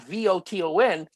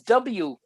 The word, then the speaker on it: Wotan: Except I'm very upset with how he uses the name Wotan for the god, Voton. Well, it's Wotan. Okay, Wotan, the way that's how you're supposed to pronounce it.